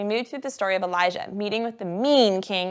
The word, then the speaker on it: Elijah: If you look at the words, you can see that Elijah, who went to Mount Carmel for the fire setup, is spelt like this, with a zh sound. And Elisha, that comes into the story today, is spelt like this, with a sh sound.